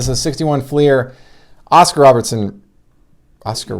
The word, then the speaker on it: Robertson: have it this is a 61 flier oscar robertson oscar robinson ricky rookie yeah robertson yes oscar off why was i mispronouncing it oscar robertson rookie this is the